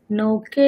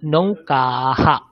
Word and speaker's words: नौकाः: प्रभु सर नौका अस्ति नौके स्तः नौकाः सन्ति ভালো করে উচ্চারণ করুন নৌকাহ নৌকাহ বলুন नौकाः হ্যাঁ গুড আচ্ছা অপবৃতা